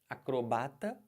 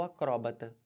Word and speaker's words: acrobata: diferente olhem para cá você pode falar acrobata ou acróbata cromata ou acroba os dois estão certos fica a seu critério